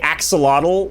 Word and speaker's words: axolotl: When we say axolotl, right, that's... Yeah. I hear native speakers say... It's a sh sound.